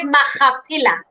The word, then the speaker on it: Makhapila: And it's Makhapila. That is how you pronounce it. Pila. Pila.